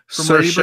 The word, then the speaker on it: Saoirse: And Will, how do you pronounce her name? Saoirse Ronan.